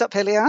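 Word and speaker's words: Up Helly Aa: Uphelia? Yes, Uphelia, that's fine.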